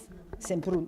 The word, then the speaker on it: Semprún: Semprún. Enfin, moi je le prononce à l'espagnol, hein, sans prince si vous voulez.